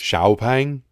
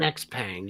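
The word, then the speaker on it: XPeng: just call it an x-pang you'll sell more yeah because it's very hard for us english speakers to look at an x and pronounce an sh i'm working on it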